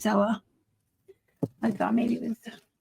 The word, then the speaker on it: Zella: Yeah, it's Zella. I thought maybe it was pronouncing it wrong, but it's Zella.